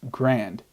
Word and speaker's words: Grande: I just kind of analyzed a Ariana Grande song. Apparently it's pronounced grand.